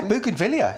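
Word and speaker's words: Bougainvillea: Um the next one we got here right now the Buggan Villia. Is that pronounced correctly? Yeah, Buggan Villia.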